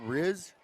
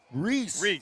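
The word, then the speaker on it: Rhys: the roster they have number seven is r-h-y-s is that riz reese reese whoa there's also a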